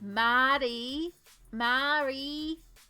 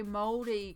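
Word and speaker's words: Māori: little Pia girls that did not know how to pronounce and said Mari Mari for years and then to learn how to say moldy correctly I had to remind myself moldy D like bread which I felt awful about but that was the only way I could train myself to work on those vowels and the correct pronunciation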